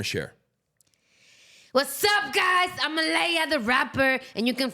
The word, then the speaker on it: Alea: It's not like Alea the Rapper, because a lot of people say Alea. I'm like, no. It might be spelled Alaya or Alea, but I pronounce it Alea, okay?